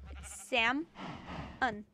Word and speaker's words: salmon: read salmon I read salmon because that's how it looks right they're one in the pronunciation there is no l salmon it's Seth Sam on like there's no l